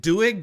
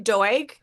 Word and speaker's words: Doig: Is it Doig? Did I pronounce it right? It's actually Doig, and Doig.